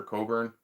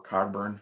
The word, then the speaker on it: Cogburn: original and i've seen rooster coburn or cogburn if you like the uh the the slightly more americanized pronunciation um yeah um speaking